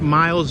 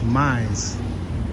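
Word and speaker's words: Mies: All right, we're on Chestnut Street, North Miles Van Der Rohe. Look at how it's spelled. Or North Mize. It's not even miles, it's Mize.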